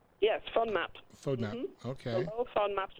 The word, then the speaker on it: FODMAP: up on her no okay Wow so it's pronounced phone MOT fodmap yes fun map so now okay on map solution alright and